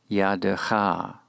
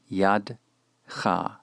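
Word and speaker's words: יָדֶיךָ: The first word is yadecha, yadecha. The kametz is long, consequently the Shava after the dalet is vocalized. Yadecha, not yadcha. There are 3 syllables, not 2, as we are portraying them.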